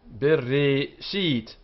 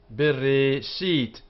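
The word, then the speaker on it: בְּרֵאשִׁית: So, Bereshit, Bereshit. Here it's B and T.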